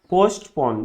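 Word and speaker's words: postpone: तो इस टाइप का वर्ड जब भी एस टी का लूप या एस डी का लूप बीच में आता है तो इसको टी जो होता है ये साइलेंट मार देते हैं, सही है।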